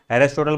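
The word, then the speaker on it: Aristotle: पढ़ा होगा अरेस्ट होटल English में इसको बोलते हैं उच्चारण अरेस्ट होटल बोलेंगे अगला है जीव विज्ञान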